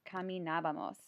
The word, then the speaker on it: caminábamos: It's caminábamos. You'll notice that there is an accent on the A in caminábamos.